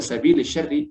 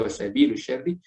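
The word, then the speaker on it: وَسَبِيلِ الشَّرِّ: Jadi wasabili syarri, kita harus bacanya wasabili syarri, tidak boleh wasabilu syarri atau wasabila syarri, karena dia ma'tuf dari kata dengan kata sabil sebelumnya, ila sabilil khairi.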